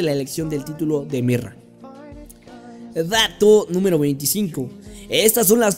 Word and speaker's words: Myrrah: edad todo número 23 cómo se pronuncia correctamente su nombre mirra se pronuncia y deletrea similar a la palabra sueca mira que se traduce en hormiga y sería bien dicha en su ego como mira dato número 24 que